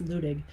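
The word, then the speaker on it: Luttig: for example uh judge ludig is out there by the way it's spelled letting pronounced looting the reason that it's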